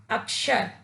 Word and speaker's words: अक्षर: जाकर यह शब्द शुद्ध हुआ और इसका शुद्ध उच्चारण क्या हुआ? अक्षर।